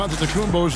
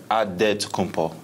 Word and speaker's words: Antetokounmpo: In a Greek way, you gotta say it with a D, so it's Antetokounmpo. But in the Greek way, you say it with an NT, like Antetokounmpo.